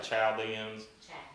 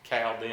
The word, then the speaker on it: Chaldeans: the chaldeans all right some say chow diamonds cowden i like the cow dens the h is silent i've heard it both ways but um his daddy